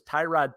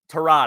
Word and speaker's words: Tyrod: 26th our quarterback was tyrod taylor at the time tarad i should say that's how you actually pronounce his name according to uh hard knocks but anyways we've lost